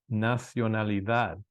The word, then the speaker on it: nacionalidad: la foreign remember these These are going to be pronounced like th's so repeat that one after me la nacionalidad great um another example